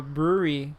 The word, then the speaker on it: Brouwerij: And it's from a brewery called Brewery West. Okay. But how do you spell that?